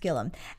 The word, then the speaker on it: Gilliam: T Gilliam Gilliam it's spelled Gilliam but it's pronounced Gilliam and he is a security adviser an expert